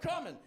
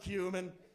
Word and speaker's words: cumin: Hey, look at this big ass jar of coming. I expected him to, you know, worst case be like, "Shut up. It's pronounced cumin."